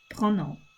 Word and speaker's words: pronom: Pronouns in French is spelled Prons. Pronom is how you say it.